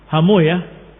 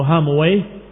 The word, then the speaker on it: Hamuyah: ibn Hamuyah atau Hamuwai, sebagian membacanya Hamuyah karena menghindari kalimat wai, tapi aslinya adalah Hamuwai, Rahawai, diakhiri dengan wai. Tapi karena dikatakan wallahu taala alam wai itu adalah nama syaitan atau sesuatu yang jelek, maka para ahli hadis membacanya dengan dibalik harakatnya. Bukan Rahawai tapi Rahuyah. Bukan Hamuwai tetapi Hamuyah. Ila akhirih.